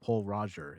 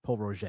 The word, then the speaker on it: Pol Roger: Same with like people say, "Oh, I'm going to pick up Paul Roger." It's Paul Roger. It's just the pronunciation.